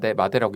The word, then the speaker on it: 마데: 미러키 입장에서는 뭐 프렛하고 우리 마데라고 읽어야 되죠.